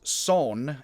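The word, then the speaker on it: 선: It is spelled in English S-E-O-N, but I am to understand just like Seoul is Seoul but pronounced Seoul, it should be pronounced Son even though it is S-E-O-N in Korean.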